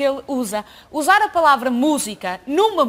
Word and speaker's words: música: usa usar a palavra música Numa música é difícil por causa da tônica da tal sílaba tônica que o SUS tem atenção quando cantou dizer música mas não é música é música é música e ele